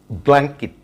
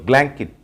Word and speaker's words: blanket: এই ওয়ার্ডটির pronunciation হবে blanket, blanket, blanket. বিয়ের উপরে কিন্তু একটা স্ট্রেস হবে blanket. বাট আমরা সাধারণত এই ওয়ার্ডটি বলে থাকি blanket. Blanket is wrong. So the right pronunciation of this word is blanket.